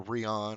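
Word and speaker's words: Rian: going back to how Ryan can't write, or Rion, or however you say his name. I know it's Ryan.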